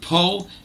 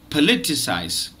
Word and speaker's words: politicise: you know pronounce the the first syllable po it is not po it is politicized so don't say politicize say politicize politicize i'll be doing so